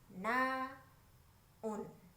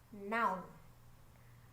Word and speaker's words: noun: Suka selip jadi 2 suku kata. Naun. Apa ini? Ini naun. Padahal mestinya noun. Noun. Ya, satu suku kata aja.